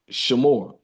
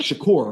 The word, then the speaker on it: Shakoor: bro I gota make so shamore no uh is it like Shakur right I'm like I don't want to I don't want to say my man name wrong but see y'all know like Tupac Shakur my name is Shakur that's cool bro I